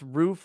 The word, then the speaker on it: roof: cars in depth says midwesterners pronounce roof like foot yeah they say rough